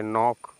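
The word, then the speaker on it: knock: KN है तो K आपका साइलेंट, तो पढ़ेंगे नॉक।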